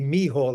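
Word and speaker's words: Michal: And it's actually Mihal is how I pronounce my name.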